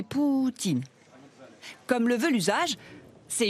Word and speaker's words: Poutine: Il est d'ailleurs conseillé de prononcer Poutine.